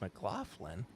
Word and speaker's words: McLaughlin: But from Old Lion Spirits, ladies and gentlemen, it is Mark McLaughlin.